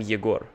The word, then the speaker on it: Yegor: We have two different names, Igor and Yegor. I'm Yegor.